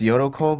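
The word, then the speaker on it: Yolko: Her name is Yulko? The way they pronounce it's Yoroko, but it's spelled like yolk and then but it's pronounced Yoroko.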